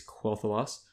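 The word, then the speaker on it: Quel'Thalas: let's move on so quell the loss I hope I'm pronouncing it right but I believe it's quoth loss that's correct was was it planned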